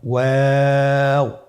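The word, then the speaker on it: واو: আজকের পর্বের পরবর্তী হরফটি হলো ওয়াও। আমরা স্ক্রিনে দেখতে পাচ্ছি ওয়াও হরফটি উচ্চারণের ক্ষেত্রে বারিক হবে এবং 3 আলিফ টেনে পড়তে হবে।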